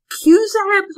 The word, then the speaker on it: QZAB: this opportunity Dr pass could you explain what cusaps are my pronouncing that correctly two zebs yes you are it's an acronym you